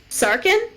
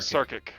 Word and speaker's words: Sarkic: if this area is sarkin i'm pronouncing that right right sorry sarkic sarkic if this area is